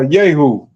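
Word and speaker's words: Jehu: Uh yahoo sli yahoo. My bad. I'm saying yoo.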